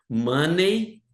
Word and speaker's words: money: Money é uma pronúncia errada. Eh, na língua inglesa a gente não diz money. Pronúncia correta é money. Money. Money. É como se não tivesse esse e aqui.